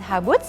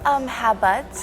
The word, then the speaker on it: Haboots: So how do you pronounce it? Haboots, is it correct? Haboots. Haboots. Okay. It's like from habit.